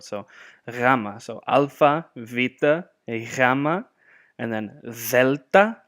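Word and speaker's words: γάμμα: And then gamma, but in Greek, depending on where it falls in the word, this would be pronounced gamma, gamma, or even more so yama, yama.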